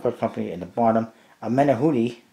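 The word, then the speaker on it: Menahune: Menahuni, actually is that's how you pronounce it, Menahuni, not Menanuni, whatever I said before.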